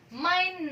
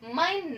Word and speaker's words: Mein: Diucapkan adalah AI ya. Diucapkan AI tapi dituliskan EI.